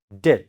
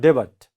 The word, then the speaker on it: debt: This B sound is silent. So, when you find this spelling DEBT, you have to pronounce det. Okay, not debut, det.